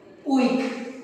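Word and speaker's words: huic: ¿Y cómo se pronuncia? UIC. Uy. O sea, es un monosílabo.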